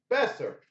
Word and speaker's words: Boeser: Is it Besser? Boeser? Huh? Besser.